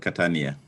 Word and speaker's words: Catania: university of catania is that the way you pronounce it catania in italy yes yes that is very true it's called catania and i post graduate diploma in museums and